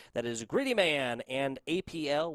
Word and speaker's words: APL: That is Gritty Man and APL which I'm pretty sure is pronounced Apple.